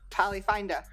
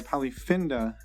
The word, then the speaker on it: Polyfinda: the new app polyfinda polly finder sorry polyfinda as it's pronounced here on the show